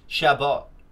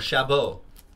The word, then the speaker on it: Chabot: Thomas Chabot. Or Chabot. Or Chabot. Depending on how you want to pronounce it.